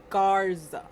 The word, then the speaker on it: Garza: No, but this one is Garza.